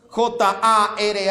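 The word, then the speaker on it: χαρά: el apóstol Pablo utiliza la palabra griega jar J a r acento en la segunda a jar significa gozo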